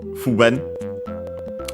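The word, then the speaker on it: 不便: The negative, so the opposite, is fuben, also accent on the first syllable.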